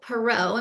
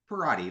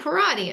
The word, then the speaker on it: Perrotte: Today I am with Parodi. Am I pronouncing your name correctly? Parodi, like karate. Oh, Parodi.